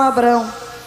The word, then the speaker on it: Abraão: E cada vez que se pronuncia o nome Abraão, lamentavelmente em português o H é mudo.